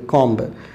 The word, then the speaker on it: comb: Next है बाल बनाना, कॉम्ब, बाल बनाना, कॉम्ब, COMB, कॉम्ब। यहाँ कॉम्ब B साइलेंट है, ठीक है।